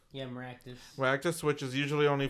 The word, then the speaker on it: Maractus: Looks like the regional one for this Pokemon is gonna be, pronounce this for me, Jay. Maractus, right? Yeah, Maractus.